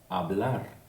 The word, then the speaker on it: hablar: You might have noticed I haven't read the H, okay?